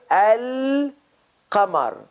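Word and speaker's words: القمر: going to mention but focus on this lam sound can you hear al kamar there's the islam sound coming out of my mouth yes that's the difference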